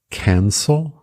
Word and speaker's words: cancel: Cancel, cancel, que é cancelar, cancel.